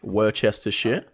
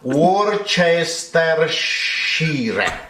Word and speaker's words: Worcestershire: So just to preface this video, this old Italian man does not know how to pronounce this word, which is Worcestershire.